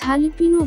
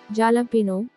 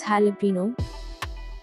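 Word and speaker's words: jalapeño: mispronouncing it it is jalapeno while looking at its spelling it is sometimes mispronounced as jalapeno it is wrong correct pronunciation is jalapeno it is not jar sound it is ha sound jalapeno jalapeno next word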